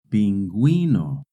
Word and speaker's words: pingüino: In Spanish, when a word has GUE or GUI, the U is silent. But if the U has a diéresis, then you do pronounce the U.